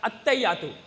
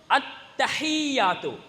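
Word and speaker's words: التحيات: எப்படி பெரும்பாலும் ஓதுற தெரியாதாக்கள் அத்தையாத்து எப்படி ஓதுற அத்தையா அத்தா இல்ல எப்படி ஓதணும் அத்தஹியாத்து எப்படி ஓதணும் அந்த ஒன் நிக்குது அதுவும் அந்தஹ தொண்டை குள்ளுக்கு வரக்கூடிய சரியான உச்சரிப்போ எப்படி ஓதணும்ங்க அத்தஹியாத்து பயமில்லாம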